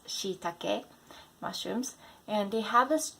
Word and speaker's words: shiitake: Number 5, Shiitake mushrooms, not shiitake mushrooms. My friend the other day said, "Oh, I heard shiitake mushrooms are so good for you." No, they're shiitake mushrooms.